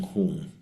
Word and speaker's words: Hung: The syllable Hung, H-O-O-N-G, we will chant it twice with each exhale, like Hung, Hung.